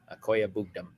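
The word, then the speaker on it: Okwuegbunam: How about you pronounce his last name? A Mr. Irrelevant question. Akoya Bugdum.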